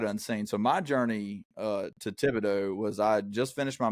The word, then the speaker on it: Thibodaux: university known as Nicholls State University down in Thibodaux, Louisiana? First of all, please pronounce my hometown My correctly. bad. Okay, on this Thibodaux.